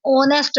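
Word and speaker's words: honest: नेक्स्ट third word है एन ऑनेस्ट मैन। ऑनेस्ट मैन। अब ऑनेस्ट मैन में देखें यहां पे भी एच जो है वो साइलेंट हो जाता है। ओ की आवाज आती है जो कि एक वोवेल है।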